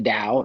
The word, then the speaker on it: Dao: so it will not change it's Dao it's pronounced the Dao it's the way uh and if you don't